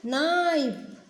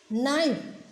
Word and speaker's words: knife: K for knife. Ka, knife. Kids, here K is silent. K is silent. So, we read knife.